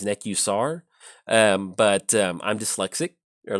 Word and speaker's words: Nekusar: so also I know the correct pronunciation is neck.you SAR but i'm dyslexic or